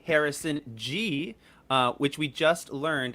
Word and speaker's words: Ghee: how about that we have a j harrison g uh which we just learned is the correct pronunciation of their name um uh which we